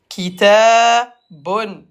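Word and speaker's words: كتاب: Donc, un livre, kitabun, kitabun, kitabun, prolonge, day, kitab, Halima, on prolonge. Il y a le alif, kitabun. Et à l'arrêt, le ba se prononce comme ba avec soukoun.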